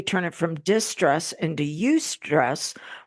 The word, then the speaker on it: eustress: And so we get subconscious agreement that we give that stress, we turn it from distress into eustress, which is spelled EU and the word stress, which means stress that can actually work for us.